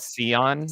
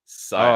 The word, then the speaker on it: Sion: Oh, does he call it Sion or something? Scion.